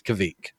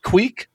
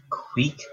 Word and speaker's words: kveik: It is spelled, like if you're pronouncing it in English, you would think it was kveik. It's Kveik. Now, David, I believe you said you pronounce it like queek, correct? Yeah, so basically I threw it through the translation. So I believe it's queek.